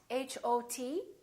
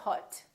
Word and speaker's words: hot: So for example, the word hot, H-O-T, we don't say hot, we say hot. It's pronounced exactly as the ah in the words father or army or watch.